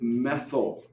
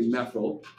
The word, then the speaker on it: methyl: And then you pronounce it methyl, okay? So this guy is meth, but because it's a branch, we say methyl.